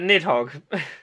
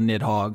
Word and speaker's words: Nidhogg: the neat hog ah maybe there's an R in the Norse transliteration maybe nit Hara but the video game which features this creature prominently just called nidhogg so we'll probably with that pronunciation mid Hawks five that's